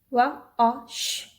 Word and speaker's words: was: Wash, wash. Was. Now why I'm pronouncing this S as Z, the link is in the description box. It's the pronunciation rule for S.